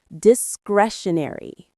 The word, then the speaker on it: discretionary: It's a four syllable word with a lovely rhythm. Discretionary. The stress is on that second syllable. Crash.